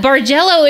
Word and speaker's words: bargello: 80s 70s flashback right bar jello is that how you say it virgin yes yeah bargello is so fun and